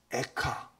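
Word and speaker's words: איכה: 통해서도 슬프다이 성이요 슬프다 히브리어 원문으로 보니까 발음이 비슷합니다 에카 에가 그러잖아요 슬픔의 노래 에가 히브리의 원문에 에카 그럽니다 카 발음이 비슷한 발음입니다 비극적인 상황을 그는 지금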